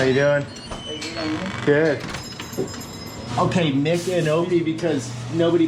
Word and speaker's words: Micanopy: Okay, Micanopy, because nobody pronounces it correctly.